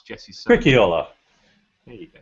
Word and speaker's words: Stricchiola: I couldn't even pronounce Jesse's surname. Stricchiola. There you go, Stricchiola.